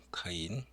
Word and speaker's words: 카인: 이걸 카인이라고 읽거든요. 카인.